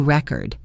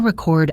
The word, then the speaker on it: record: As a noun, I bought a new record. The stress is on re. Now as a verb, I want to record a song. The stress is on chord.